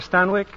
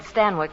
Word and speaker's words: Stanwyck: Well, that's how they said Stanwyck in England. Oh. Stanwyck, it rhymes with Zanuck.